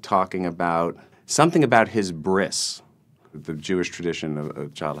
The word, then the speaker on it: bris: what a bris was and I decided to pronounce it Bri Bri s as Bri so I did the whole monologue about of my